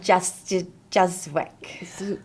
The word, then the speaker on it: Juszyk: Justwick.